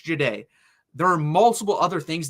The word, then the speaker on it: Jahdae: They mispronounced Jahdae Barron's name. Jedi. He's not a Jedi. It's not Jedi. It's Jahdae.